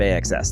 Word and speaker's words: AXS: Reverb AXS, that's how you say it.